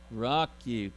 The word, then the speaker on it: Roku: We just got this thing that it's called, I don't know how they say it, Roku. What is it? Roku, thank you.